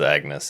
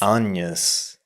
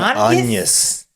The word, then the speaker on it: Agnes: No, that's They never pronounce it as Agnes in the movie. What? They never say Agnes. She introduces herself as Agnes. Anus. They're always saying Anus the entire movie.